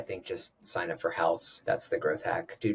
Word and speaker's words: Haus: I think just sign up for Haus. That's the growth hack. Do geo holdout testing. Is it house spelled like house? It's h a u s dot i o Yeah.